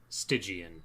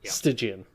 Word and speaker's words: stygian: skills okay this one i am gonna have to insist it is a soft g this is not a hard g oh stygius stygian stygian okay what do you